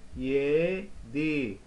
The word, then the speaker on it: yedi: Maybe pronouncing here, pronunciation altı, alright? So here, yedi, yedi, yedi, yedi, yedi.